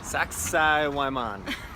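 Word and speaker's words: Sacsayhuamán: go see something called sexy I'm on it sounds like sexy woman that's what we're probably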